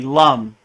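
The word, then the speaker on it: लं: honest with you so it looks like M but it's really Lum so the Bea mantra for the root chakra is Lum l m Lum and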